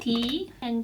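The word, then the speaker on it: 다: one that sounds like t and this vowel sounds like ah this vowel sounds like all can you guess yes it sounds like ta ta and it means everything or all what about this yeah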